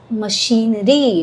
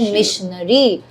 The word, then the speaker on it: machinery: So, another thing is machinery, not missionary. Mash The stress is on the she sound, machinery. You said missionary.